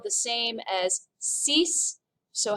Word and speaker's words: six: sank number six is spelled just like it is in english but it's pronounced cease number seven set number